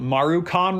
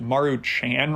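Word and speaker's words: Maruchan: After that, we cooked four packets of what we called Marukan Ramen, but I think is actually supposed to be pronounced Maru Chan Ramen.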